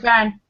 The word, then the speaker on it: Byrne: How do you pronounce his name? Is that Nicky correct? Byrne. Nicky Byrne? Byrne. Nicky Byrne.